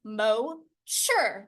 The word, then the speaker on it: Mosier: All I had to do was in the start typing box, say the way in which you say Mosier is Mo-sure.